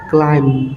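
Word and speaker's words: climb: M bomb তাবি বন্ধকল ক্লাইম সি এল আই এমবি ক্লাইম B silence C এল আই এম ক্লাইম তা বন্ধকল আমি সন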